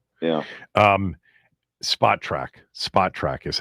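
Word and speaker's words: Spotrac: Spotra is how you pronounce it.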